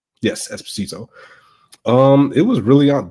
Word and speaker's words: Esposito: I can't pronounce his last name correctly, but Esposito? Yes, Esposito.